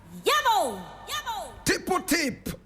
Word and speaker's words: Tippu Tip: Tipple tip. Tipple is spelled t i pu and tip is t i p.